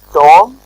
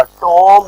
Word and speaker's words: tomb: टॉम, मकबरा, टॉम्ब नहीं कहना, टॉम, बी को नहीं ज्यादा बोलते, बल्कि टॉम, बी साइलेंट रहता है.